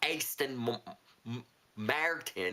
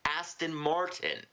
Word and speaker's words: Aston Martin: Not Aston Martin. It's Aston Martin.